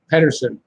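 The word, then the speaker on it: Pettersson: Pedersen, because it's not Peterson. Although he says Peterson, but it's the way it's spelled. It should be Pedersen.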